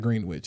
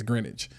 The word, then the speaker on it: Greenwich: Greenwich Connecticut Greenwich Village it's not green witch it's greenage um you don't pronounce the W but uh like plush